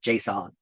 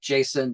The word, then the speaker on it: JSON: And it is JSON, by the way. The guy who created it says that's how it's pronounced, not JSON.